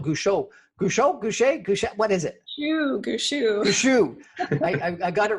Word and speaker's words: Gushue: Gushue. Gushue. I got it wrong. She corrected my pronunciation, and I got the correction wrong. Gushue.